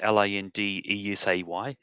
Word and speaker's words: Lindesay: It's spelt strange. It's got a rogue E in there. It's Lindesay. I guess one of my ancestors misspelled it or something.